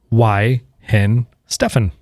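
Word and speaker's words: Weihenstephan: t-shirt and a glass and it said it's pronounced why hen Stefan what yeah and I was like Stefan Mike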